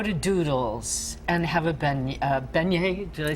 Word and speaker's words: beignet: If you go to McGee's and have a donut, or you go to Doodles and have a beignet, did I say it right?